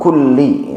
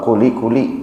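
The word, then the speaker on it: كُلِّ: Ya, makanya bacanya di situ kulli ya. Kulli innaka ala kulli. Ada tasdid. Saya tidak tahu kalau kuli kuli enggak ada tasyidnya artinya apa itu ya kayaknya enggak ada artinya itu.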